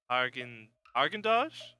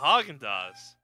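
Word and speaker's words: Häagen-Dazs: Argendosh? Easy to say. Oh, Haagen-Dazs. Why'd they spell it wrong?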